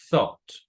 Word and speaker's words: thought: Think, el pasado es thought. Thought, like this. Estas tres letras no se pronuncian. Thought. Thought. Recuerden el sonido de la TH, aquí es thought.